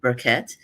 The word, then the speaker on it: Burquette: It's pronounced Berquette.